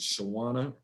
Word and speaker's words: Shawana: Is Shawana? Yes, it's Shawana Ray.